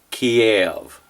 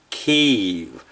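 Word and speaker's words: Kyiv: Growing up, we pronounced the Ukrainian capital Kiev when Ukraine was controlled by Russia. Now that the USSR has gone away, it's pronounced Kiev, the way the Ukrainians say it.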